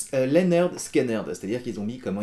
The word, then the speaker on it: Lynyrd Skynyrd: sorti sur leur premier album qui s'appelait d'ailleurs pronounced leer skiner c'estàdire qu'ils ont mis comment il fallait prononcer